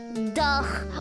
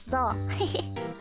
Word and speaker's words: dough: It's not duh or duff, it's dough. Dough tossing?